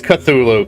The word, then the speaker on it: Cthulhu: Yeah, Cthulhu has Cthulhu is the only one that I said it wrong. It's Cthulhu.